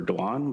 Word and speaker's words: Duan: We pronounce it Duan, but I'm used to being called as well, similar to the I